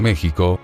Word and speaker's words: México: En el siglo XVII ya nadie pronunciaba el SH en español, por eso es que en ese siglo ya todo mundo decía México, con el sonido de la J, dice Nadal.